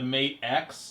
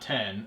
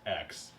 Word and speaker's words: Mate X: made way better the mate X yeah not 10. it's actually pronounced X I look that up